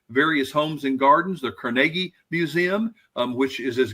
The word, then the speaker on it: Carnegie: going to see various Homes and Gardens the Carnegie Museum um which is as good as any Smithsonian you will have ever been to it's actually pronounced Carnegie um if you want to be exact about